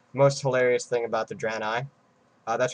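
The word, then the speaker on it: Draenei: actually is the most hilarious thing about the drani ey uh that's right it's pronounced drani ey um if you can't you can't see I'm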